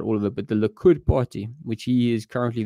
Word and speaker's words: Likud: Man, there's so much to get into about all of it, but the Likud party, which he is currently the chair of the Likud party.